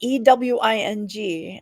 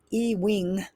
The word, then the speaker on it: Ewing: Ewing is Ewing. It's like Ewing. It's spelled funny, but I'm pretty easy to find it once you start looking for Ewing.